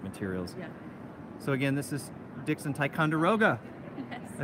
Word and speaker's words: Dixon Ticonderoga: lots of art materials so again this is Dixon Ticonderoga I said it right this time thank you